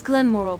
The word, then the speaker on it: Glenmoril: And it's Glenmoral Coven, not whatever you were about to mangle it into.